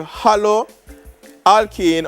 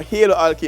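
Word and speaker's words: haloalkane: the alkene group so when you hear hollow alkane or halo alkene because some pronounce it different it simply means that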